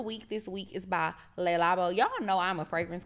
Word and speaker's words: Le Labo: item of the week this week is by Le labo y'all know I'm a fragrance girl say it